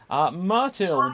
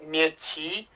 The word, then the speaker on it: Myrtille: Let's meet who we've got in the city, starting with Myrtle. Say hello to the people. Well, actually, it's pronounced Myrtille. It's a French name.